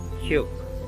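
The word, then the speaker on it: 키읔: আর কিউকের পাশে যেখানে একটা স্টার আছে, এটা একটু স্টার দেওয়া মানে হচ্ছে এটা একটু লাউডলি উচ্চারণ হবে, কিউক, কিউক।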